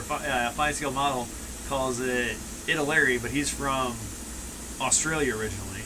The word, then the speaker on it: Italeri: Well, I call it Italeri because it's from Italy.